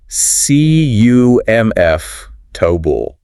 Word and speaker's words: comfortable: CUMF, tobul. VEJ, tubul. 3 syllables.